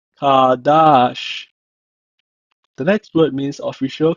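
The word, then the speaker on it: קָדַשׁ: means be holy or consecrate in Hebrew is pronounced as kadash kadash the next word means official Captain Prince in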